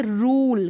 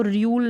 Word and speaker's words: rule: फिर यहाँ पर देखिए रूल, क्या है, रूल, इसमें तो यू को ऊ ही पढ़ा जा रहा है, अब इसको र्यूल नहीं पढ़ सकते।